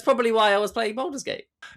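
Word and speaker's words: Baldur's Gate: Bald's Gate.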